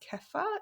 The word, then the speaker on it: kefir: You could also consume things like, I think it's pronounced kefir.